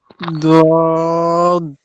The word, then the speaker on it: ضاد: লাগবে বদ বদ বদ ضاد দদ দদ হবে না ওই যে দলিনও হবে না দুইটার মাঝামাঝি একটা উচ্চারণ বদ ওয়ালা দলিন ঠিক আছে বলেন জি